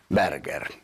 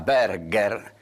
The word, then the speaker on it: Berger: joven de familia aristocrática, le explica que Berger se puede pronunciar Berger, pero que es francés. En cambio, Berger da duro, da alemán, le dice.